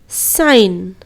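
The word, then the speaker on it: sign: करते हैं number one अगर कोई शब्द में जी के बाद की तो जी का उच्चारण नहीं करेंगे जी के बाद अगर एन रहा जैसे की साइन डिजाइन यह सारे शब्दों में देखिए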